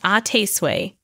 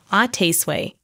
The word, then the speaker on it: à tes souhaits: the French way to say bless you is ate sway that's so cool can you teach me how to say it properly Mommy sure the French people pronounce this word as ATT sway you've got it in American it is pronounced